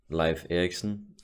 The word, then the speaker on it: Leif Erikson: found the story of Life Ericsson which live action the Danish way to pronounce it I hope you found